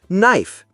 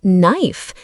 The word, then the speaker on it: knife: Like in the word knife, you see the K, but you don't say it. Exactly. It's just knife even though it starts with K.